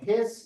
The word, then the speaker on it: His: the SA node, the AV node, the something called either the AV bundle or the bundle of his, even though it's spelled his.